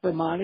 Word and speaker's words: Aspromonte: Aspromonte?